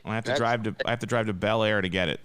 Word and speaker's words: Bel Air: The second one was Bel Air. Weird. Or as the locals say, Blair.